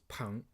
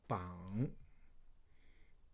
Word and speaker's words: 膀: So that's why they use this pang, means like temporarily store it, okay? Now, this one has a second pronunciation. Oops. Second pronunciation called bang.